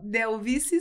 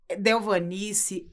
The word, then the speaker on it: Delvice: Você percebeu quantas vezes você, né, trocou as letras? Delvanice, Denise, né?